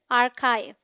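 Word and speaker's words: archive: the stressed syllable the सी एच हैज अ क sound the ivy sounds like आव एज in live so the right pronunciation is आर्काइव I hope ये topic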